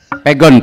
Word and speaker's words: Pegon: Pegon apa Pegon bacanya? Pegon, Pegon Pak.